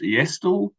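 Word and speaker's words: e-asTTle: in New Zealand and the acronym for um our tool is pronounced estol and um on the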